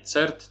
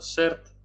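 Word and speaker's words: concert: Koncert, a nie cert, tylko sert.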